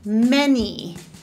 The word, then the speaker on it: many: Also, there are a few important instances where the eh sound is just spelled with plain old letter A, like in any or many, eh, eh.